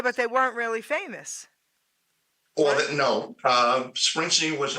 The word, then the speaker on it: Springsteen: Springfield's did along the way. Yeah. Springsteen, excuse me, guys.